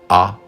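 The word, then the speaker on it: Å: Alors on est allé vers le sud pour aller visiter Hamnøy, Rennes, A ou O comme on prononce, un village, une lettre.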